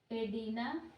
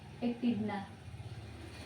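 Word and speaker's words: echidna: एडीना, kangaroo, शाही या well? तो एकिडना, मैंने प्रोनाउंसिएशन गलती कर दिया, एकिडना, कंगारू, शाही और वेल।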